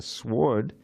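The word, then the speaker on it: sward: haunt and a sword not a sword but a sword SW r d is a meadow I don't know if you know that you know why I use that word it rhymes with Lord okay so off they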